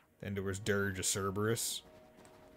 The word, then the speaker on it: Cerberus: Or Dirge of Cerberus, if we were going to presumably pronounce it as they likely did in Japanese. Because they do the hard C sound for Cerberus, which I believe is how you would say it in Greek. But not 100% sure.